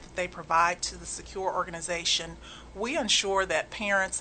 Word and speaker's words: SCAcure: secure networks incorporated and secure is spelled SCA c-u-r-e I've gotten any number of interesting names like skaker and what's the cure and so it's secular just like it sounds but spelled differently and the sca stands